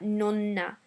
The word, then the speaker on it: nonna: We need to pronounce double letters in Italian, and the way you do this is by putting more emphasis on that letter. So it's not nonna, but nonna. It's not letto, but letto.